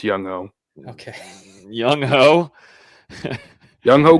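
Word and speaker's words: Younghoe: It's not Yun Ho. It's Yunwei. It's Young Ho.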